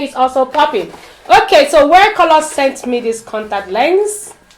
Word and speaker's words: WhereColor: So it's pronounced wear, like wear and color. It's just like wear. If you hear, you think it's wear, to wear something, but it's actually wear. Like where are you?